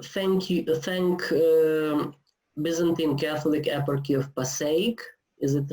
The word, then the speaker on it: Passaic: Okay, before we start, I have to thank Byzantine Catholic Eparchy of Passaic. Is it right? I don't know how to pronounce.